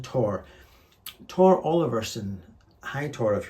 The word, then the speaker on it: Thor: Tor, pronounced T-H-O-R, pronounced Tor.